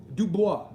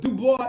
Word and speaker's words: Dubois: it properly modern properly for the UK Du Bois us in America we call it Dubois but Du Bois is correct it's the original way the correct way of saying it I agree